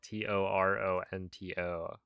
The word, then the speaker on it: Toronto: I've been told Toronto spelled T O R O N T O. is spelled or is pronounced Toronto. So, you know, if you're okay with removing some of the letters, that's fine.